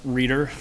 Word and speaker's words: Ryder: Ryder, please? Good evening. Thank you. Actually, it's pronounced Reader, just sorry, to set sorry.